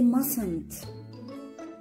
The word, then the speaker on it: mustn't: mustn't as you see there's a t in the middle but this t is silent we don't pronounce it okay so we say mustn't in life you